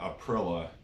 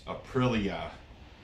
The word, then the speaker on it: Aprilia: It's not Aprilia, it's Aprilia. He said it don't it don't rhyme with gorilla, so I've been pronouncing that wrong.